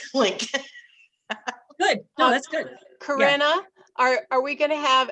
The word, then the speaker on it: Corinna: you yeah you're welcome i know it's spelled corinna but it's karina nothing worse than calling